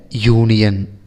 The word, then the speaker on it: union: Example, a hat, a house, a union, a uniform. Here union and uniform have started with vowel sounds, but the pronunciation u, yu is the real pronunciation of union and uniform.